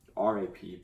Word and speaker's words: wrap: I was trying to say rap, like R-A-P, but you say rap, because then we're going to wrap it up with a W, but it's with an R, and I was just trying to say it like rap music, but you say it the same way, it's just spelled differently.